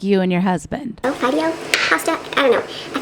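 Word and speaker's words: fideo: Is it wait, F-I-D-E-O? Yeah, it's Fido, like the dog, Amy. Rough, just like you and your husband. Oh, Fido pasta?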